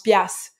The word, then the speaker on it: piastres: ok puis l'après seul mot piastres en prononce pias ok mais il n'y